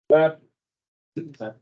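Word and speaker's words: βαπτίζω: Baptizo? So remember, this is just a zeta.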